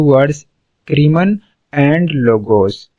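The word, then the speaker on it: crimen: The word criminology consist of two words, क्रीमन and logos. यहाँ पे ये क्राइम ही नहीं है, ये क्रीमन है। समझ आ रही है, यहाँ पे कंफ्यूज नहीं होना और इसको गलत प्रोनाउंसिएशन नहीं करनी है।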